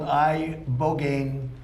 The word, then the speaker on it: ibogaine: And it's called ibogaine treatment. Ibogaine. Remember the name. Is that pronounced relatively properly, would you say?